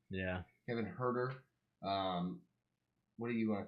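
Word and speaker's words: Huerter: anyway it's a Hawks and it would Kevin hurt her is that you say his name yeah Kevin hurt her what are you going to call this guy like klay Thompson jr.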